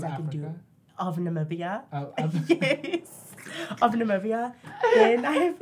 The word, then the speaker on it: Namibia: Namibia. Yeah, because I honestly, when I see it written on paper, I'm like, what is this? How do you pronounce this? It's like N-M, right? Or is it? N-A-M-I-B-I-A.